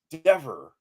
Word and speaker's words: Dever: Okay, every word ending with EVER is pronounced ever, lever, never, sever, forever, dever. No word with just EVER is pronounced ever. Ever would require another E at the end of the R. It's ever. Never forget the clever Dever.